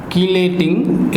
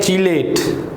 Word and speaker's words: chelate: बहुत सारे स्टूडेंट्स इसको जो प्रोनाउंस करते हैं वो करते हैं चीलेट। That is, this is नॉट अ चीलेट but this is actually कीलेट और कीलेटिंग एजेंट्स।